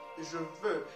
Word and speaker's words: je veux: Basically, you know, X here is not pronounced. You know, like I told you, some of the words like vous, S is not pronounced. Ple, the T is not pronounced. Je veux, it's supposed to be